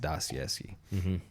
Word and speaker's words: Dostoevsky: And I can totally be corrected on the actual Russian proper pronunciation, but for the sake of it, it's just Dostoevsky.